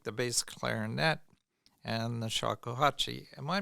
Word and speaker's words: shakuhachi: underrepresented instruments like the bass clarinet and the shakuhachi. Am I pronouncing that correctly?